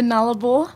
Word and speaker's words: Nullarbor: Will you take me back to, is it pronounced the Nullarbor? Playing? The Nullarbor. The Nullarbor playing. Yeah, but you can say however you want. I like it with your accent.